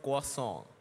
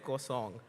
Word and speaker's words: croissant: and by the way, the actual French pronunciation of the croissant that I used to call is called croissant. It's K-W-A-N, croissant.